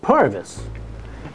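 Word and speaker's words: Purves: their activities in fact p rves is pronounced pervis and pervis supply companies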